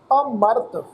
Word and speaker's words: अमरत: शब्द का पाठ करांगे ऐड़ा अखर अगेतर लगा के, जानी कि ऐड़े अखर ते हल्का जिहा पोज लगा के अमरत इस ढंग के पाठ उच्चारण करांगे। अमृत नहीं पढ़ना इस शब्द का पाठ, अमृत नहीं है, ये गलत उच्चारण होएगा। ये पाठ है जी अमरत।